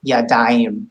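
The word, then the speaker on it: ידיים: this daim, this is what we call a diphthong, where we actually have a couple of vowels coming together to form something new. So it's not yadayim, it's daim, like I, yadayim.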